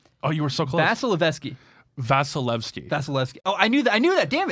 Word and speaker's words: Vasilevsky: Vasilevsky. Oh, I knew that. Damn it. It's like Vaseline, but Evsky. Vasilevsky.